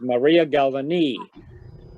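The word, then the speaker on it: María Galvany: name of maria galvani that's how she pronounces it i have several uh center start pathes of her where she does her own announcement and her the way she pronounces her name is maria galvani so and the interesting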